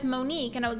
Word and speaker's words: Monique: filter this cat Builder I it's so it's pronounced Monique but I didn't know that as I never